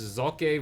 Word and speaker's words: Socke: to pronounce his name he says that the e is a hard e and the S is more closer to an English Z so it's zok versus Nani here on